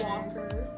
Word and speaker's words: Walker: Girl, the L is silent. This is Walker.